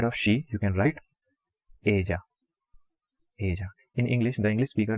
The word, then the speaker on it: ella: she, you can write ella. In English, the English speaker, they are generally going to pronounce that as ella, but it is not that. The double L pronunciation is j, like j.